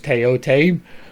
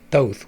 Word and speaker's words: Thoth: I use Teote because that is the current pronunciation of it, and not the English version of it, which is what Teote or what Thoth would be, or Thoth. That's even worse.